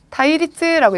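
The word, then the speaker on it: 対立: 자, 대립이라고 하는 거 타이리츠라고 읽어주시죠. 자, 타이리츠 와타라시 킨초 우무노데.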